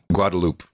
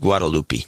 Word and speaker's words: Guadalupe: No, we don't pronounce the E. Guadalupe. In San Jose, it's pronounced Guadalupe.